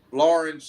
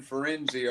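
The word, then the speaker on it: Firenze: Italy yeah you have Florence and fenzi are the same place fenzi is how you say it in Italiano and Florence is how you say it in a more angli fied language so that it's same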